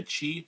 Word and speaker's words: Qi: It also has like a Qi charger on the top here, or a QI charger, depending on who you are and how you say it.